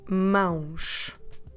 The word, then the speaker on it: mãos: So, and makes the nasal sound. And we have a nasal diphthong because we have A, O. So it goes like And then we add the sh sound with the letter S at the end.